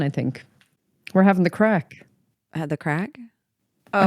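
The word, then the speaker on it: craic: So maybe that's why they named it crack. Yeah, and it's not spelled cocaine. C-R-A-C-K. It's spelled C-R-A-I-C.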